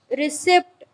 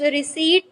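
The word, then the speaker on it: receipt: Third one इज रिसिप्ट, इट्स रिसीट नॉट रिसिप्ट, means आज तक हम इसे क्या कहते हैं?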